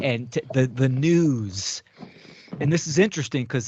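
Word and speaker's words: nous: o u s but it's it's pronunciate as news almost sounds like news right y or what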